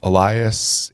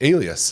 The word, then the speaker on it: Alias: Elias. Alias is really HOW IT'S PRONOUNCED.